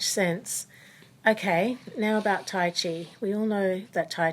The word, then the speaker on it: Chi: system of the body it did originate in China and the Chinese word for lifeforce energy is Chi which is spelled Zhi or Qi one is in the